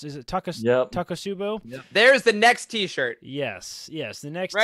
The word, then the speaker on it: takotsubo: real medical condition takotsubo cardiomyopathy is how you pronounce it right Charles is it tuck it up taco subbu there's the next t-shirt yes yes the next